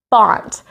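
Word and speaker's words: bant: Bont. Now that rhymes with flaunt, which is something we shouldn't do very much, right?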